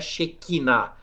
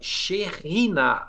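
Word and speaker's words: Shekhinah: né, a xerrinar, né, todo mundo fala errado, né, não é chequiná, é xerriná, a pronúncia correta, que é a glória de Deus, para que a xheriná habitasse no tabernáculo.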